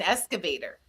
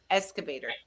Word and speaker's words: excavator: Because according to grandson number two, grandma needs an excavator. A what? Hint, hint, hint. Escavator.